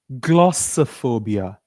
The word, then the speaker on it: glossophobia: It is glo. Repeat after me. Make a pout. Glasser. Glosser. Glossophobia. One more time. Glossophobia. Not glossophobia. Not so. Why do we call it? Because we don't stress all the syllables in a word.